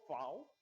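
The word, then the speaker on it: Vau: towards their sound okay this is called fou and it has the F sound okay it's called B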